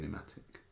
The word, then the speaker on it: pneumatic: Alright, there's not a fucking P in pneumatic. It's cacao nibs. There is a P in pneumatic. It's just silent.